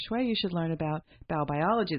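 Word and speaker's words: Baubiologie: you should learn about biobiology. The first thing was to learn how to say it, B-A-U, biology, but it's a German science about how our environment affects human health.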